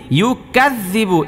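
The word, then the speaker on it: يُكَذِّبُ: কোরআন কারিমে দেখেন এই যে আরওয়া আই তাল্লা জি, এরপরে দেখেন ইউকাযযিবু, ইউকাযযিবু, এই জালের উচ্চারণটা শক্ত হবে না নরম হবে? নরম হবে।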